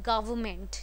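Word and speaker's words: government: चलो, ट्रोलिंग से हटके, ट्रोल्स अपनी जगह हैं, बट the actual pronunciation would be गवर्नमेंट. ठीक है, गवर्नमेंट होता है, एन को साइलेंट कर देते हैं हम यहाँ पे, साइलेंस प्लीज.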